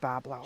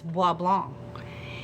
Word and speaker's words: Bois Blanc: pronounce boys blink Pablo it depends on who you're talking to but my whole life we've said Boblo if your French is boblong what is it if you're a local Boblo or boy blank boys